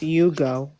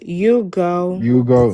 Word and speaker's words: Ugo: My name is pronounced Hugo.